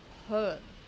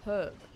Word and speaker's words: herb: The word herb, you guys like do not pronounce the H.